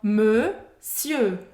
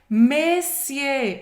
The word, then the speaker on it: monsieur: E você não vai pronunciar o R no final da palavra. Monsieur. Presta atenção, porque a gente ouve muita gente falando messier. Messier é uma palavra que não existe em francês. A palavra mais próxima dessa pronúncia, messier, presta atenção, ó, messier tá errado. Monsieur tá certo.